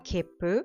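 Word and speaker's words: きっぷ: In the case of kippu, after pronouncing the ki, there is a short pause equivalent to one beat, while keeping the mouth shape of the next sound pu, and then the pu is pronounced. Kippu, kippu, kippu.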